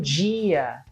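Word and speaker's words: dia: D I a but this di is not pronounced as D like you would in English it's pronounced as G as if it's a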